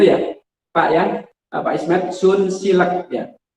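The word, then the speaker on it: Sunsilk: Pak Ismet Sun Silek ya. Ada orang-orang menyebut Sunsil itu macam-macam. Ada yang bilang Sunslik ya. Ada yang Sunslik. Padahal yang benar, pengucapan yang benar adalah Sunsil. Nah, jadi nanti olive ini kira-kira bacanya gimana?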